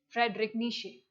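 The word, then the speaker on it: Friedrich Nietzsche: e i e z but how did i pronounce it frederic nishi okay so these are there are a lot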